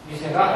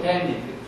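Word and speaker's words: 店: 그러면 후산품을 파는 가게가 있습니다 할 때는 여기 단독으로 쓰면은 미세인데요. 어떠어떠한 이런 식으로 하나의 어휘로 형성이 됐을 때는 이것을 된이라고 읽는 거죠. 파스터 후드 된. 응? 여기를 파스터 후드 미세 이렇게 하면 안 돼요.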